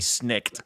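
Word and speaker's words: snikt: exactly how it's about exactly how it's spelled s-n-i-k-t snicked yep snake what's your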